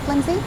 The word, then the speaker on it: flimsy: the original sound but it's closer to a Z sound restrains that flimsy means